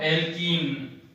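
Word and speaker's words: alkane: एल्केन, double के साथ जुड़ रहा है तो एल्कीन, और ट्रिपल के साथ जुड़ रहा है तो एल्काइन हो जाता है।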